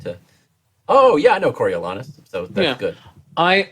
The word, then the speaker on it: Coriolanus: Coriolanus. By the way, thank you for pronouncing it correctly.